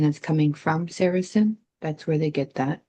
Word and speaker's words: Saracen: So, and the Sarah, however you pronounce that, Seraphines. How Saracen.